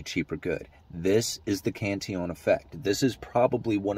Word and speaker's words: Cantillon: Most people, when they think about it's Cantillon. He was a French guy, so that's the way he pronounced it, Cantillon.